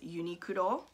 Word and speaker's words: Uniqlo: spell it for you uniqlo is spelled u i n q l o so get uniqlo or in japanese yunikuro okay so they have